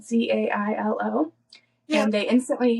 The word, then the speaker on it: Zailo: So at one of these events in 2005, Lindsay met Jason Zilo, I think is how you say it, Zailo.